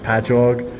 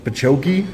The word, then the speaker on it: Patchogue: I'm from Long Island, and the cities that we have, it'll be like Patchogue, and they'll be like Pachoki, and I'm like, no, it's just ingrained into my brain that I know how to say them.